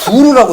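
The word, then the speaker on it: bourg: 프랑스에서는 끄트머리 지자 발음이 안 나서 이제 부르라고 하는 거고 그 거기 사는 사람이 부르주아예요.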